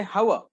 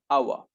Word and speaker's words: hour: again there is exception no need to say howa that's a wrong pronunciation even if the word is starting with the consonant what you need to say an awa an honest man that is what the pronunciation